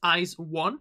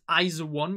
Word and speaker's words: IZ*ONE: i've already already realized i used to pronounce um the group name as ice one but it's iso one you know or like